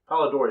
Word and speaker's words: Polidori: vampyre by John William pallid Ori that gets them game right Polidori is correct may have his first